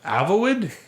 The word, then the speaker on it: Avowed: That they announced a new game, and it's AVOWED, and I was like, Avowed? I'm not going to pronounce that yet.